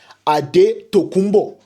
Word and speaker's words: Antetokounmpo: Antetokounmpo. That's how you pronounce his name. Don't let anybody tell you otherwise.